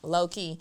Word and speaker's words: LoKei: I'm like, "Boom, low-key." And I decided to spell it a little different. Instead of a Y, I have a I. So, K E I, L O K E I.